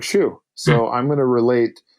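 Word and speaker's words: chou: in French sounds like Shu so I'm going to relate what I know which is some foreign word that sounds like the word shoe that I know to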